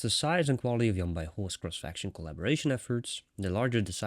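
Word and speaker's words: Yan Baihu: you guys probably already knew, but apparently it's Yan Bai Hu. So now that I've learned that, my pronunciation has increased. Improved, sorry. English isn't my native language either, so I'm sorry for that, but Yan Bai Hu, apparently.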